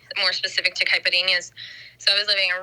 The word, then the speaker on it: caipirinha: me on this pronunciation caipirinha um so the nh a is kind of or nho it represents kind of like how we say something cute like puppy kitty anything that has that at